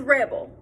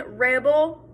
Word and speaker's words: rebel: on that word so the noun is rebel the verb is rebel do you hear the difference between rebel and rebelle um so that's what